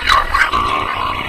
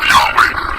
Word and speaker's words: Yahweh: So his title, in a sense, was God, and his name was these four letters, which in English would be YHWH, which we think were probably pronounced something like Yahweh.